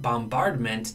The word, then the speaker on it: bombardment: Yet bombardment, now I do pronounce this B.